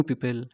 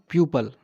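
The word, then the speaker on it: people: इसकी correct correct pronunciation क्या होगी? पीपल, पीपल नॉट प्यूपल, इट इज़ पीपल।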